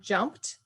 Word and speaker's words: jumped: So if you think of the word hugged, the G is a voice sound, and that's why it's a D sound at the end. And the word jumped ends with a P, which is a non-voice, it's just air. And that's why it's a T. It's easier to say.